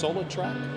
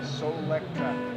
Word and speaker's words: Solectrac: Solartrack? Solectrac. Solar electric tractor.